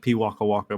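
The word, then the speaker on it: pīwakawaka: It's pronounced P Waka Waka, by the way.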